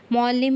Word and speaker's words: معلم: دال پر تشدید ہے۔ معلم میں لام مشدد ہے اور بولتے وقت اسے 2 بار ادا کیا جاتا ہے۔ اب مندرجہ بالا 5